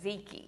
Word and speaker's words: tzatziki: So starts with a T, but you pronounce it with the Z, and is Ziki.